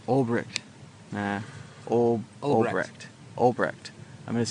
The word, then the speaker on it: Ulbricht: is that we all need to support Ross Ulbricht. I said it wrong. Ulbricht. I'm going to say it right someday. Ulbricht.